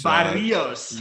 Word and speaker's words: Barrios: Well, I'm going to give you an A for attempting to roll your R's when you said Barrios, because Barrios.